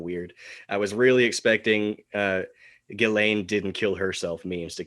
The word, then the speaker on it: Ghislaine: Some people say Ghislaine, some people say Ghislaine. Anyway, Ghislaine Maxwell. I think it's Ghislaine, like Elaine, but yeah, so she